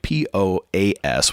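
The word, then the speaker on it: Poás: I'm saying it right P Oh AAS with the accent on the a in Costa Rica I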